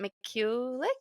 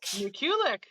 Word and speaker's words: Mikulic: um Can what how do you say your last name is it mulik mulic yes that's the Canadian perfect perfect okay so we